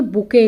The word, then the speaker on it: bouquet: तो इसको क्या कहते हैं, देखिए बुके, इसको बुके बोलते हैं, इसके वैसे स्पेल BOUQUET, बुके, टी इसमें साइलेंट है।